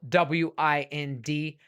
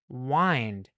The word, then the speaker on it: wind: You see wind, of course, that's wind. I know wind, but wait, there's another word spelled W-I-N-D that is a verb, and it's pronounced differently along I, wind, right?